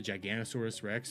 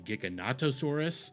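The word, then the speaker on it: Giganotosaurus: I didn't know the actual pronunciation of the Giganosaurus Rex was actually Gigonattosaurus.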